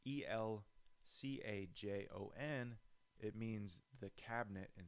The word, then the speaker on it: El Cajon: did he know I didn't even know about El Cajon until I bought a guitar El Cajon so it's a city in East County San Diego it's pronounced it's al Ajo n it means the cabinet in Spanish I believe